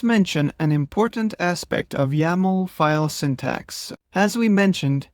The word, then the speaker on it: YAML: The YML extension is usually pronounced as YAML.